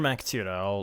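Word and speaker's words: Mac Tíre: It's spelled MacTire, but it's Tira. I know. Mac Tira. Tira.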